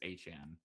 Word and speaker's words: Etienne: goes to New Orleans, Etienne, I think Travis that Etienne. well his he actually did say in his press conference the correct pronunciation is Achan.